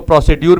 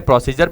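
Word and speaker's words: procedure: क्या कहलाता है, इसको प्रोसीड्यूर भी कह सकते हैं, प्रोसीजर भी कह सकते हैं।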